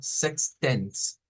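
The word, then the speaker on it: sechzehn: Y el 16 lo vamos a leer como sextens, sextensen, sextensen, sex y sextensen.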